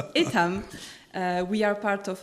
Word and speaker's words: Etam: business is uh so you are pronouncing it in the right way actually the French way it's itam uh we are part